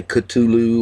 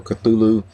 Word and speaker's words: Cthulhu: call of cthulhu um regardless of how you pronounce it i know there's a lot of people say katulu or cthulhu uh it doesn't matter one of the greatest